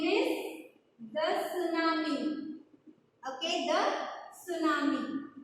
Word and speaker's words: tsunami: Okay, and its name is the tsunami. Okay, the tsunami. So this this T is silent.